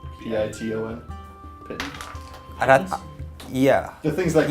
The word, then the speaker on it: piton: It's just Pinton, right? What's it spelled like? Piton?